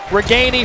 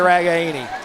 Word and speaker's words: Ragaini: I got the pronunciation right. Pronunciation's right. Ragaini forever. This year, he changed it to Ragaini.